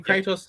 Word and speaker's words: Kratos: Is it pronounced Kratos? Mm-hmm. Yep, cool. We're doing Kratos tonight from God of War.